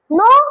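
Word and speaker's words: know: ধরা হোলড held held নো জানা নো থেকে নিউ হয়েছে নো নিউ নোন এখানে নো ক্ষেত্রে যে কেটা আছে না এই কে সাইলেন্ট মানে কে উচ্চারণ করা যাবে না মানে কে উচ্চারণ হয়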